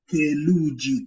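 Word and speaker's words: theluji: And the letter TH is the same way we pronounce it in English, like the word think. TH.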